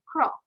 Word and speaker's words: croak: আমরা কিন্তু ক্রক বলবো না, its pronounced is croak.